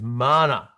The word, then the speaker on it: mana: My favorite uh mi New Zealand indigenous um uh word is mana. Uh pronounced m a r r n a. Mana. Roll the tongue.